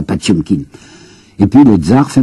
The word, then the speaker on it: Potemkin: Au mois de juillet, il y aura la révolte du cuirassé, la mutinerie, vous savez, du cuirassé, nous prononçons Potemkin, un cuirassé Potemkin, paraît-il qu'il faut prononcer ça, Patiomkin.